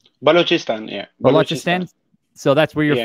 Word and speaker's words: Balochistan: born in uh how do you say it balaka stan balochistan yeah so that's where you're from uh yeah